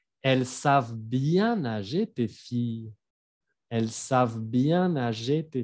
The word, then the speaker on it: filles: El fi de hija se pronuncia como si fuera una i larga. Elles savent bien nager, tes filles.